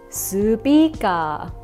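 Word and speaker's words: スピーカー: For instance, "speaker" is pronounced as "su-pee-kah."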